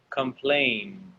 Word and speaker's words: complain: And over here we have complain. 2 syllables. Not complained. No, complain. All right?